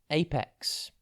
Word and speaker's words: apex: TV today's word is Apex it's pronounced aex and it is spelled a p e X think ape and then X Apex means the top